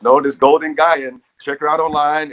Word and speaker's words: Gaian: look that up golden gai and i'm saying that right yes yep golden gaian golden gaian is spelled g-a-i-a-n and as in gaia right i would imagine